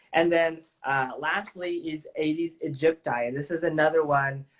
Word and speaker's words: aegypti: And then lastly is Aedes aegypti. And this is another one or depending how you say it, Egypti, Egypti. I've heard different pronunciations, but they're the same.